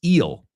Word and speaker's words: eel: All right, the first word then is eel. Eel, okay? Eel. Eel rhymes with feel. It also rhymes with seal. It rhymes with deal.